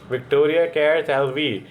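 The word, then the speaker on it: Victoria Kjær Theilvig: specially इनके नाम को प्रोनाउंस कैसे करते हैं विक्टोरिया केर लवी इज क्राउंड मिस यूनिवर्स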